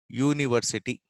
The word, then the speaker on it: university: University is starting with U and it should be vowel, but the sound is that U is pronounced. When it comes to pronunciation, it becomes Ya. Ya plus U, university. So Ya is consonant. So we have to say a university, not an university.